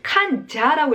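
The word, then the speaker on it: 患者: 원래 놈자자는 샤라고 읽잖아요. 그렇죠? 그런데 여기는 칸자라고 읽어서 이제 시험에도 아주 자주 나오는 건데 환자라는 뜻입니다.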